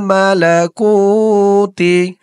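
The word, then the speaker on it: الْمَلَكُوتِ: কু একালিফ টান হবে। ওয়াল মালাকুতি।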